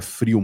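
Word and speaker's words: Vril: frio na verdade né se diria frio mas se escreve vrio né Eh ela fala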